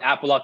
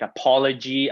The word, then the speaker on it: Apologue: it's pretty funny because a lot of people uh mispronounce it people say you know i've heard like apology apollo grey app lodge so it's funny but